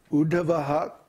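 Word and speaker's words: उद्धवः: Udupi style, it's called, when you have a word that ends with Visarga, and the next word begins with Ksha, you pronounce the Visarga. So it's Uddhavaha Kshobhano Deva. Because of the K.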